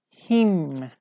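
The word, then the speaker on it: hymn: Him. 20. Him. We say him, not him. Okay, him. H-Y-M-N. Which letter isn't pronounced? Him, like we say him, we don't pronounce N.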